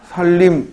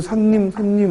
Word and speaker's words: 살림: 그냥 살림 바른말 보고 집안 살림이라고 생각하지 말고 살림 뭐예요? 습속이야. 자연이지 자연. 발음이 유음화가 일어나죠? 살림. 두 글자는 무조건 리을이야. 또 무섭게 산님 하고 뛰어다니지 말고 살림.